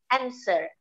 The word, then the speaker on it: answer: Many Indonesian people say answer with the W, the W, the sound W there. Actually, the W is not pronounced. Answer, yeah. W-nya tidak perlu dibaca.